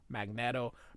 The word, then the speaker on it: Magneto: It's magnet with an O. Magnetto.